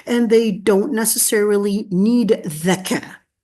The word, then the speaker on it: zakah: they don't necessarily need zakah. Not zakah, zakah. Wait, what's the difference between zakah and zakah? Isn't that just a person that just doesn't know how to say the za sound?